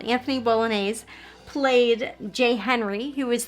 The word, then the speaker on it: Bolognese: sister and then anthony i'm going to say bolognese like the spaghetti because that's how it's spelled anthony bolognese played jay henry who